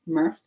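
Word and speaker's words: MRF: it comes to our material recovery facility pronounced murph for short um our murph contains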